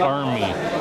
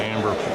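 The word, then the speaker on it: Amer: This again is the Amber fort, but he said it should be the Army fort, but he said everybody pronounces it Amber for whatever reason.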